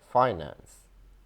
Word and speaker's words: finance: This word has three pronunciations, and the most common one is the first one, finance, finance, finance.